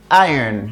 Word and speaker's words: iron: I don't know but the pronunciation guys is iron listen to the way I say it carefully I say iron say iron iron is